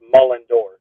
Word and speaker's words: Mullendore: actually mullor yeah yes mull like you're mulling like you're mulling around and a door so it's mulling door mulling door mulling door